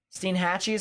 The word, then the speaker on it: Steinhatchee: landfall they become tornadoes so Steen hatches how it's pronounced makes sense Steinhatchee so yeah it looks